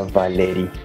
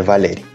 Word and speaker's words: Valery: Então, a correta pronunciação seria Valeri, mas é Valeri.